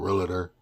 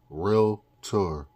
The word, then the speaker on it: Realtor: So, I was a licensed realtor, not realer. You know what I'm saying? Realer. Realtor. Realtor. Not realer. It's no extra a in there. No extra letters.